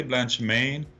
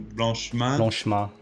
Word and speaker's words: Blanchemain: don't worry about it you can pronounce it either the english way blanche maine or if you want to do really french you do blanche man gotcha that's right yeah